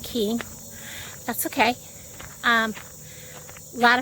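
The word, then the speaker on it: Koehn: h-n up here that would be pronounced cohen because we have cones bakery and that's how it's pronounced so they same spelling um but they are pronouncing key that's okay um a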